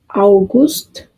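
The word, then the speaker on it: August: आगे है यूनी यूनी इससे अगला महीना है यूली यूली आगे है अवगुस्त अवगुस्त जेपेंबर जेपर यहां भी स्पेलिंग एक से हैं लेकिन प्रोनाउंसिएशन में फर्क है।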